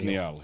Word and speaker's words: Niall: Well, the Irish is 1 L. Right. The sort of they're all Gaelic anyway, but yeah, the Scottish is 2 L's and it's Niall. Right. So we're pronouncing that correctly. It's Niall, yeah.